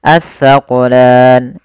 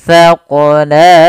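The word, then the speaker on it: الثَّقَلَانِ: Panjangnya berapa harokat mad arid sukun? 2, 4 atau 6 harokat untuk mad arid sukun. Maka as-saqulan, 2 as-saqulan, as-saqulan, 6 harokat. Kita coba ulangi. Sanafrughu lakum ayyuhas thaqalan.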